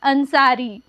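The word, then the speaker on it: Ansari: और यहां पे देखिए यहां पे बड़ी ई की मात्रा आखिर में आ रही है और इसका उच्चारण कम यहां पे कम हो रहा है इसीलिए हम इस बड़ी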